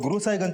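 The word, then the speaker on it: गुरसहायगंज: गुरसाईगंज सर गुरु साहिगंज को वहां के लोकल लोग गुरु साहिगंज प्रोनाउंस करते हैं।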